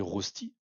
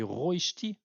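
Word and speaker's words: Rösti: La prononciation à la française, c'est pas la bonne. Ah ouais? Moi, je dis toujours des rostis.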